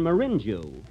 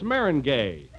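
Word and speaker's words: meringue: pies you know I'm famous for my lemon Marin Jew Marin Jew well that's Marin gay Mary oh that's way it's pronounced uh see you learned something every day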